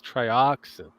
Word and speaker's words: Trioxin: at it going oh it's trioxin you know because you have to pronounce the X like a z z no I've seen